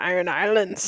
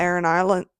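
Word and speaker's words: Aran Islands: I thought everyone was saying like the iron. The Iron Islands. But it's A-R-A-N. A-R-A-N. A-R. Islands. Yeah. So everyone's like the Iron Islands.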